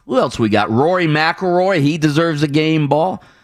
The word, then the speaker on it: McIlroy: won rory rory mcilroy i always say rory mcilrory it's rory rory mcilroy is that how you